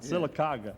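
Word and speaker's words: Sylacauga: I mean do you ever get back to silaga am I pronouncing it right that's right silaga yes the population now is about what oh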